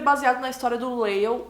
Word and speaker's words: Lale: Esse livro é baseado na história do Lael, ou Leili, eu não sei como vocês falam, mas eu acho que se pronuncia Lael.